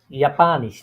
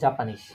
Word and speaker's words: Japanisch: Japanisch, not Japanese, কারণ জাপানিজ হ্যাঁ হ্যাঁ জাপানিশ কেন?